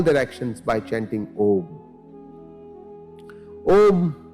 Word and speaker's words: Om: Om consists of three syllables, A, U and Ma.